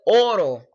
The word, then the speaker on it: oro: you look at it, you see oro, but how I pronounce it, how many native speakers is oro, kind of like a D instead of an R.